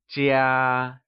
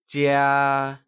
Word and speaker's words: 家: The word home translates to 家, and it is pronounced using the high level tone. Let's hear you say 家.